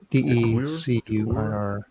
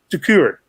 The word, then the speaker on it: Decuir: I don't know how to pronounce it. DECUIR. Decuir.